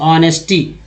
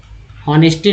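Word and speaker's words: honesty: अब एच को यहाँ पर जो है एच को यहाँ पर साइलेंट रखा गया है और एच का उच्चारण अ भी होता है, अ भी होता है, तो यहाँ अ से पढ़ते ऑनेस्टी, हॉनेस्टी नहीं, ऑनेस्टी, हॉनेड।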